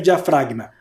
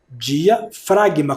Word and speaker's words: diafragma: é o músculo diafragma Olha como se escreve diafragma diafragma com o g muda ó diafragma é um músculo